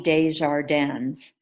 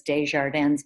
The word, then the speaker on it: Desjardins: elementary school with, and their last name was Desjardins, but they pronounced it Desjardins, Okay. which doesn't sound as cool in French, but it's Americanized.